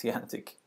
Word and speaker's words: EANTC: advanced networking test center it's pronounced T antic when this interrupts event